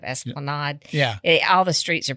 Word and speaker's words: Esplanade: And I was thinking about Panta, and it's out on Esplanade, which is going down towards City Park. And I was, I'm pretty sure it's Esplanade in New Orleans instead of Esplanade.